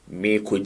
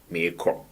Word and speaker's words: Merekɔ: Well, I think I've repeated this statement severally, that it is written Merekɔ. Merekɔ. That is how it is written. But in actual sense, we pronounce it as what? Merekɔ. Merekɔ. It's only in music that one can pronounce it as what? Merekɔ. But in normal daily conversations, we never say Merekɔ, but we say Merekɔ.